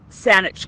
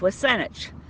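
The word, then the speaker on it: W̱SÁNEĆ: But Saanich Gulf Islands is, of course, mispronunciation of Wasanich, the traditional people of this territory, and to them in the language of this territory, Sanchothan, Haishkasem.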